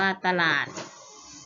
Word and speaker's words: ตลาด: ถวาย อัน ว่า ถวาย ติด ตลาด อ่าน ว่า ตลาด ตลอด อ่าน ว่า ตลอด ม.ค ว่า จะ กลับ